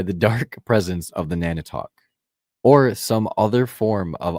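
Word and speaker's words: Nantiinaq: Nanitok. Right. Nanitok. Nana talk. The Nan don't talk.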